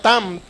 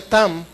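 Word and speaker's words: תם: Este hombre contemporáneo de Abraham, un hombre perfecto, pero la palabra perfecto aquí la podemos traducir, es una palabra hebrea tam, así más o menos se pronuncia tam.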